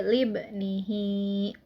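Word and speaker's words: لابنه: Nah, ini hukumnya adalah madsilah qasiroh. Nah, yang ini ya. Nah, kenapa disebut dengan madsilah qasiroh? Karena huruf H itu bertemu dengan huruf selain hamzah. Cara membacanya yaitu 2 harokat. Jadi libnihi. Nah, terus selanjutnya yaitu kata ya'iduhu.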